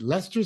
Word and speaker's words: Leicester: you know your computers he goes oh Oh you mean Leicester Square and I said Lester Square that's how you say it and I said well